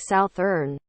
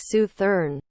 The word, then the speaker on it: Southern: I'm from origin orally most people around me pronounced it like southurn where I live now everyone says it like Su thern I got made fun